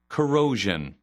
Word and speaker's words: corrosion: 그래서 발음 위주로 한번 들어보십시오. corrosion, corrosion, corrosion, 자, 들어보셨죠?